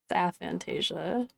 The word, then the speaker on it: aphantasia: And we got that aphantasia. Yeah. Or aphantasia, however it's pronounced. It's aphantasia.